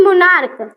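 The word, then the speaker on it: monarch: से जोड़ेंगे उसके बाद मोनार्क अर्थात यहां पे सीच है तो इसे हम मोनार्क पढ़ेंगे यानी लास्ट में हमारा यानी उसका प्रोनंसिएशन जो करेंगे हमारा क आएगा उसके बाद मोनार्क हो जाएगा यहां इसके बाद देखेंगे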